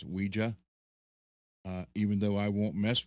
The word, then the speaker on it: Ouija: So, yeah, I want the Mummy guitar, and even though I don't do, a lot of people say the Ouija board, it's actually pronounced Ouija.